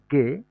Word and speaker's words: Ge: তারপর আমরা যেটাকে জি বলি, সেটার প্রোনাউন্সিয়েশন হবে গে, গে।